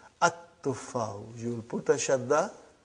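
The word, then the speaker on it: التُّفَّاحُ: See, there is no shadda. Anta, Dhamma is given. But now your mind knows that that is a sun letter. So you will pronounce as At-tuffahu.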